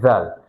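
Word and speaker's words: ذال: So yeah, this is Dal and this is Zal. That's how you pronounce. Zal has a dot on the upper side and Dal doesn't have any dot. Dal is like the letter D on the English alphabet and Zal is just Zal.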